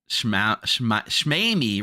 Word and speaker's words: Schmeamy: Uh Schmeamy rhymes with Amy.